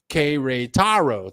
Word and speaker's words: Querétaro: Okay, pronounced Querétaro.